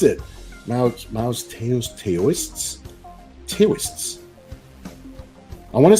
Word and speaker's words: Taoists: Kevin says, remember, Teo is pronounced do. Do or Dao? D-W Dao. Taoism? Taoism? So Taoism? Dao? So Taoists? Doists?